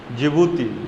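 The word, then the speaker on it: Djibouti: जिबूती, जो डी उसमें silent रहता है, ठीक है।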